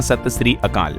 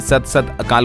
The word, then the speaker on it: सत श्री अकाल: इसे ऐसे कहते हैं सही उच्चारण होता है सत श्री अकाल तो राजस्थान के सीएम भजनलाल ने सत सत अकाल बोल दिया था इसकी जगह पर और